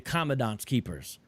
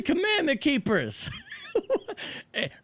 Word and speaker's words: Commandment Keepers: This man just said the Commandant's Keepers. He means the commandment keepers.